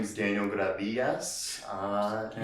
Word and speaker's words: Gradias: my name is daniel gravidas uh can you say that again what is it yes if you want to say it like in english i guess uh you can say daniel gradius but um my co-host